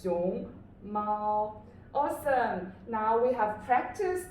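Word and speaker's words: 熊猫: So it's xiong mao. Awesome. Now we have practiced the pinyin and these syllables.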